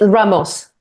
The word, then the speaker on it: Ramos: management 3.0 we have Ramos have I pronounced your surname correctly it's Ramos so or in in Portuguese and know I